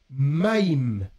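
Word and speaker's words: מים: même lettre qui alors l'eau en hébreu se prononce maim ah ouais ma alors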